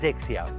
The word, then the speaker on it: XXIO: something unique called xixia X x10 but it's pronounced sexier xixia means 21st century and it's a golf